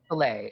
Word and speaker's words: Soleil: Anyways, we get more on Lunar and how do you say Soleil? Soleil. Soleil. It's like Soleil, like Cirque du Soleil.